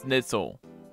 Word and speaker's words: Schnitzel: schnitzel it's pronounced as schnitzel it is german that's why i probably